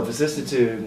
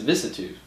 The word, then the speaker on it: vicissitude: So we ended up actually branding it as a vicissitude. Oh, really? Because it's easy to say that because it's like attitude, but vih instead.